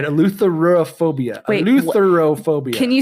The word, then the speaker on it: eleutherophobia: All right, eleutherophobia.